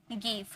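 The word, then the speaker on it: give: हैं वो क्या है गिव यह वर्ड में कोई नियम लागू नहीं होता है जी के बाद हालांकि आइन आया फिर भी हम इसे ग में ही प्रोनाउंस करते हैं तो इसमें कोई रूल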